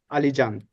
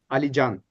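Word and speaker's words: Alican: I forgot that Turkish has a soft C.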